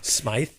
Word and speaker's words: Smythe: i am the warrior that's an english way of saying it uh they're shooting at